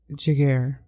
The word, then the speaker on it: Giguère: He was Giguère.